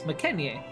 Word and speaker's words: McKenzie: on orthography to atmology the name McKenzie that Z was originally a Yo and originally was more closer pronounced as mcken but because of misunderstandings and generalizations of assuming that y as a z especially incursive it began to be written and understood as McKenzie have you had the